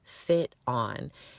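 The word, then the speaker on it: FitOn: Like the word fit and the word on put together.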